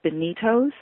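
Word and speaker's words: Beanitos: chips for something called bonitos mm-hmm it's like spelled like a bean B EA and I TOS and it's really a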